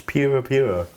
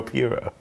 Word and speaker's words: Puro: Instance pura. Why? Why is it? Yeah. How do you say it? Are you judging how I said pura? Puro.